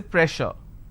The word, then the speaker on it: pressure: press sir so here double s will become sure sound so i say pressure all right so you